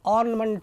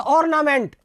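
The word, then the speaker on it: ornament: और उनके लिए तो ऑर्नामेंट हो गया. बच्चों वैसे स्पेलिंग से तो ऑर्नामेंट, लेकिन अपने विश्व स्तर का उच्चारण सीखना है तो ऑर्नमेंट, ऑर्नमेंट.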